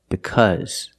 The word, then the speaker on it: because: cause any problems but the word because is different the Au is pronounced with a short sound like cup and up because now you might hear